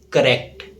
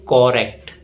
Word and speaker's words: correct: So the correct pronunciation of this word is correct, not correct. There is no O sound in its pronunciation.